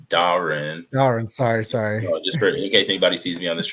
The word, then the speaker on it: Dahren: I really appreciate it my name is pronounced Darren darling sorry sorry oh